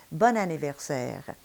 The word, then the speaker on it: bon anniversaire: And the reason is because the combination bon in front of a vowel denasalizes and ends up sounding like the feminine, bonne.